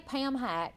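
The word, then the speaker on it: PAMHAC: They they say Pam Hack and that's Purchase Area Mental Health and Aging Coalition.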